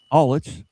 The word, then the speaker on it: Allitz: Did I pronounce that correctly? Allitz. Okay.